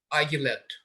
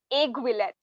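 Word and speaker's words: aiguillette: Argulet. I'm sorry, that's not the correct pronunciation. It's aiguillet.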